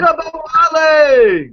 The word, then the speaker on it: Ogunbowale: Oh yeah, pronounce his last name. Okabawale!